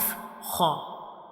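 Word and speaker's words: ح: Ho is pronounced from the upper portion of the throat, like ho.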